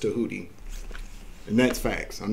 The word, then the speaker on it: Tahuti: Some people say Thoth. But it's pronounced Tahuti.